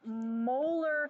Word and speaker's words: molar: way we pronounce this we pronounce capital M olar like your tooth so if I say